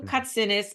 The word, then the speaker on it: Kotsinis: I am here with my new friend L katsinis and it's Greek I hope I pronounce it right and you help people also